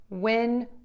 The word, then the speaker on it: win: I came up with a few tips for you to pronounce these a little clearer and to get closer to that short I and that short E sound when you need to distinguish these two vowels.